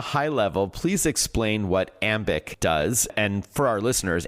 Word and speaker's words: Ambiq: All right, so Charlene at a high level please explain what Amic does and for our listeners ambic is spelled A M B IQ.